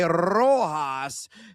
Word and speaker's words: Rojas: Got to roll the R to say it pronounced correctly, Rojas, to get a hit.